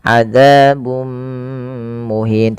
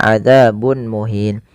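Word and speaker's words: عذاب مهين: panjangnya dua harakat kemudian adzabum muhin ada di sini dommatain bertemu dengan mim yang ini kita namakan dengan bacaan idgham bighunah yaitu cara membacanya memasukkan tanwinnya kepada mim dan ditahan adzabum muhin tidak dibaca adzabun muhin.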